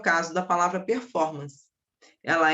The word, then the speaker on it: performance: o caso da palavra performance. Ela é uma palavra proparoxítona, tá? Performance, o for, é a minha sílaba tônica mas ela é uma palavra de origem inglesa, então ela não é acentuada.